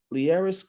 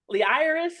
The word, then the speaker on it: Leairis: multitalented Miss liaris did I pronounce the name right you did thank you so much for getting it right okay I get called I get called Lis liis and it's like no those are all beautiful